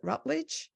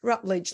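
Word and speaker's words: Routledge: be submitted to now how do you say that is it rut that's right oh it is rutl later this year for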